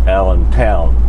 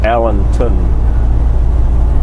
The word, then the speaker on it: Allenton: located in Allenton Allenton Wisconsin I used to pronounce this place allent Town Wisconsin turns out it was missing a w so yep it's just Allenton Wisconsin all right we are on our way